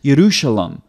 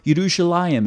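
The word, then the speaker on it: ירושלים: So the first consonant for Yah here, or for Jerusalem, is, the way it's translated in English, is a yod, okay? It's Yerushalem, or Yerushalayim is the other form that you'll see in Hebrew.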